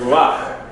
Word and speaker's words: ruach: You have to be careful with the word ruach, which means ruach means what? Spirit. But it is spelled with the ah sound, ruach. It is spelled with it under the last letter, under the kaf, ruach. So it looks like it's rucha.